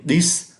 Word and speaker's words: dix: được cái âm F, và số 10, dix, phải cho thấy được cái âm sở.